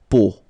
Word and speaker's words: peau: But then, so the sound that you will have to pronounce when you've got these 3 vowels combined together, it's the sound O.